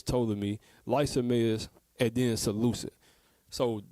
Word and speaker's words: Ptolemy: So you had the 4 that was ruling was Cassander, Ptolemy. Actually, it's Ptolemy. That's not, the P is silent. It's Ptolemy, Lysimachus, and then Seleucus.